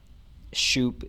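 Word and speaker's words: Shoup: if I mispronounce that it is shup is s h o u p and Mr sh stood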